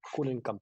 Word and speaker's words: Kullenkamp: Medio largo, pero se pronuncia tal cual. Kullenkamp.